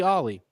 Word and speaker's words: Ali: It's fully Ollie. I saw it on U of L basketball's website, their program, because I was thinking about it on Wake Up 502. I was like, am I saying his name wrong? So it's Ali, like Ali, like Muhammad Ali.